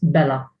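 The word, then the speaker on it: belha: female form it is bella. So a stupid man and a stupid woman. Iblach, and bella, pronounced without a h, like as if there is no h, as if there is no h.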